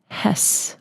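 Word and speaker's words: Hesse: into something of value that is Herman Hess or hessie I don't know how to say his last name but I got you on that one it's Herman Hess a German novelist great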